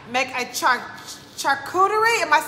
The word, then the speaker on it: charcuterie: it right thank you uh so it's called chuck cutery charcuterie it's very fancy i don't know is that